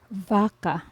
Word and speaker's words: vaca: It is pronounced as V, as in English, vase, lava, have, when used in the start of a word or syllable. For example, vaca, vaca, which means cow in English, vaca, vaca.